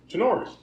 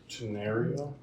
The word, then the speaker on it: Tenorio: a piece of paper, most people don't know how to say it. Tenorio. Tenario? Tenario. Tenorio. Tenario. Tenorio. People look at it, they go, 10, Tenorio. Tenorio. Like, they just can't do it.